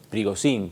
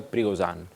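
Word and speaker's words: Prigozhin: del grupo Winner porque hasta hace un rato le decíamos y trigosin pero en realidad se pronuncia prigon no detalle interesante casi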